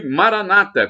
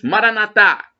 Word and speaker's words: Maranata: E Maranata, como dizem os evangélicos, os protestantes, e como dizemos nós, católicos, Maranatá, com a tônica na última sílaba.